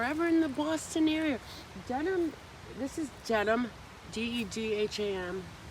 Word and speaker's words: Dedham: If you're ever in the Boston area, Dedham, this is Dedham, Dedham, not Dedham, Dedham. It's pronounced Dedham, but it's spelled Dedham.